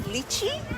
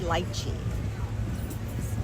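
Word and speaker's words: lychee: So, I've heard people call it luchi. That's another way people pronounce it as well. But, um here we say lchi.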